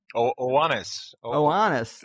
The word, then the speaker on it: Oannes: Oannes. That's the way I pronounce it.